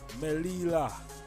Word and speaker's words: Melilla: Oh, we can't even pronounce the word. Melilla.